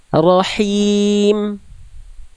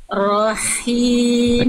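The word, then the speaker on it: رحيم: Rahim. Rahim. Oke, sekarang jangan terlalu kuat juga, jangan ada kerasak-kerasaknya. Berarti ada itu melipir ke kho. Ya, coba lagi. Rahim.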